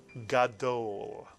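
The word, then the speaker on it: גדול: use this Hebrew word, gadol, mitsuyan, 2 vowels, 2 syllables, gadol.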